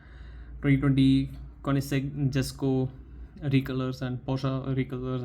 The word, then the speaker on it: Koenigsegg: Let me just quickly go to YouTube and check how to pronounce this name. So I just googled right now, and it says the name is Koenigsegg.